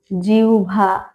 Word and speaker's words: জিহ্বা: আমরা যে আহ্বান আহান জিউভা জিহ্বা জিহ্বা যেটা আমরা বলি সেটা জিউভা এই অনেক কিছু আমরা